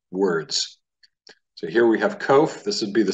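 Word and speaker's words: קוף: And you would pronounce this word kof.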